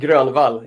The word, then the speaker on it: Grönwall: Now, I would be tempted to say Grönwall in a kind of German way with the umlaut, but I think the least we can do is learn how to pronounce an artist's name properly. So let's hear him say it. And Grönwall is actually how you pronounce my last name.